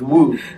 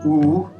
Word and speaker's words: Wu: should say it as Wu. So yeah. Wu. Wu, it's like W-O-O, the very... Or maybe even just all the O's. Wu. Wu, yeah, Wu, and the second tone.